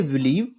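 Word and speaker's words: believe: बिलीव पढ़ेंगे।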